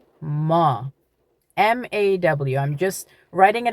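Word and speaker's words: ما: In Dari, you say ma, ma.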